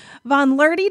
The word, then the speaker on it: VonLuehrte: my guest what an introduction right is von learty did i pronounce it correctly yes you did yay um